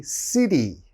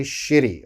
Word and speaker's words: city: have to be careful you have to say city city like seoul city busan city don't say shitty okay the foreigner the english speaker is going to be confused why are you saying shitty the next word coke